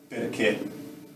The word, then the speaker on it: perché: We don't really, like it should be perché, the soft one, perché. Like this is a rule, but people would pronounce it also in perché, but perché.